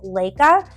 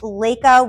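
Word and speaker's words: Laika: on my list is Leica she was the first dog in space and I hope I'm pronouncing her name right it's l a i Ka a I believe it's Lea uh she was sent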